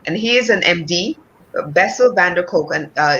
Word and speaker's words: Bessel van der Kolk: out there by and the author is um bessel van der kolk and i'm hoping that i'm pronouncing his name correctly and he is an md bessel van der kolk and uh it's how the body keeps score